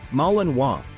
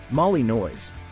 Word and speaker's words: Malinois: in work and service pronounced malen wa not Molly noise the Belgian Mal is